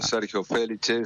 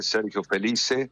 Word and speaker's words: Sergio Félice: Está muy bien pronunciado, Sergio Felice, Sergio Felice, Ajá.